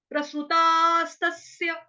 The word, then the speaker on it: प्रसृतास्तस्य: आधे स का दूसरी बार जो उच्चारण होगा वो माइल्ड सा होगा। क्यों? क्योंकि आ की जो मात्रा है वो दीर्घ है, लंबी मात्रा होने की वजह से वहां पे आपका जो आघात है वो प्रॉपर वे में सुनाई नहीं देगा। तो कैसे सुनाई देगा? प्रसृतास्तस्य प्रसृतास्तस्य।